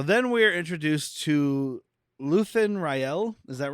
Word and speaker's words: Rael: So then we're introduced to Luthen Rael. Is that right? Yeah. Because I just read it. Well, Luthen is right. I cannot remember the last okay, it's name being R-A-E-L, said yet. so Rael sounds right.